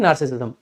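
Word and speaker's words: narcissism: तो बेसिकली इसका correct pronunciation होता है नार्सिसिज्म, ठीक है?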